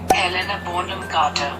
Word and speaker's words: Helena Bonham Carter: Pronúncia. Helena Bonham Carter.